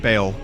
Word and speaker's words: Baal: And, you know, before you know it, we'll be at Bale, and we'll... I thought it was Baal. I thought that's how you pronounced it.